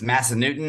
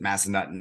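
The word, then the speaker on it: Massanutten: uh we've got Massa it's it's Massa Newton or Massa nutton I've heard both but I think everyone pronounces it Massa nutton and if any if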